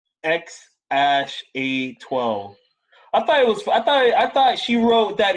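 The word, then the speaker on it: X Æ A-12: So apparently that AE thing is pronounced Ash. So phonetically, it's X Ash A12. X Ash A12.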